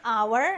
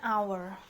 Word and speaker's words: hour: The first one di sini our ya. Our di sini silent H ya. Jadi dia vowel sound, jadi harusnya an hour.